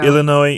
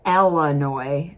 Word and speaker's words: Illinois: It's more of a lazy way of speaking, But what you never want to do is pronounce the S.